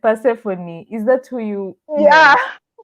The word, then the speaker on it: Persephone: Yeah, So I think Michelle has said Persephone. Is that who you yeah, meant? yeah. I can't ever pronounce that name. Sa nimekwambia vile it's said. Persephone, that's her Persephone.